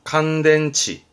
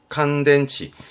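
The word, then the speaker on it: 乾電池: 충전 발음은 주덴, 주덴. 건전지입니다. 칸덴치, 칸덴치.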